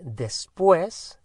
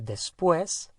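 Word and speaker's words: después: for example to say that after we say despoise so we have to have the dare in there when it's after something is after dinner is after lunch say despues is spelt d-e-s p-u-e with an accent s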